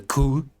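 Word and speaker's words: cour: 13 episode formats, the coup. I think you pronounce the word like that, C-O-U-R, and in this case with an S at the end because it's plural.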